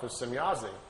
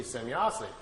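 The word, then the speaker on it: Semyase: Well, Billy was trying to make his notes and was trying to make some, write it down phonetically how the name sounded to him. So he wrote it out, S-E-M-Y-A-S-E, Semyazi.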